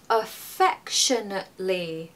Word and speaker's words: affectionately: let's break it down the first letter is you guessed it awwa it's not a it's uh so a affectionately Fe should be loud in that word to give the right intonation just be careful with